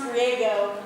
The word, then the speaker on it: Griego: So it's actually pronounced Griego, like San Diego, or like Go Diego Go, which I love him so much.